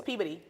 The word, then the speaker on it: Peabody: class when you come to Worcester it's like Peabody right Peabody Peabody oh yeah yeah but like because if you say Peabody you say hey Peabody yeah it's Peabody it's Peabody yeah or it's Connecticut right Connecticut